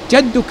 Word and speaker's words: جد: وتعالى فال المقصود به جدك اي عظمتك وشانك اي عظمتك وشانك تعالت عظمتك وتعالى شانك يا رب العالمين فالصواب في ذلك ان جد تنطق بالفتح تلفظ بالفتح وليس بالكسر تلفظ بالفتح وليس بالكسر ثم